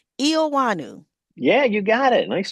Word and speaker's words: Eoannou: last name, but um thank you for giving me some hints as to say it correctly and is Wanu.